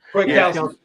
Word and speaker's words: Kwiatkowski: Kwiatkowski.